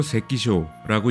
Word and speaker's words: 関所: 일본어로 세키쇼라고 읽는 관소는 교통의 요지에 설치되어 세금을 징수하거나 출입국자를 검문하기 위해 설치된 시설을 의미합니다.